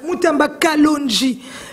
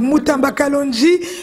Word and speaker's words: Mutamba Kalonji: Voilà, Mutamba Kalonji, parce que lui il prononce en français, hein. Donc Mutamba Kalonji.